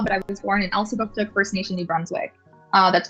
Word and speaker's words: Elsipogtog: Okay, did I say it correctly? Elsipogtog? Close. Elsipogtog. Booktok.